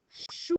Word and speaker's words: chou: Alors, c'est pas chou, c'est pas sous, c'est chou.